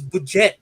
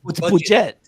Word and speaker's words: Budget: I love Budget so much, and if we can get him on for Asian Pacific, mispronouncing the name is Budget, not Budget.